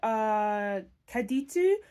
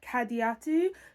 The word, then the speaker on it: Kadiatu: Then there's Kaditu, who sorry, I didn't pronounce that right. Kadiatu, who is her housekeeper, and then we also have Omalego.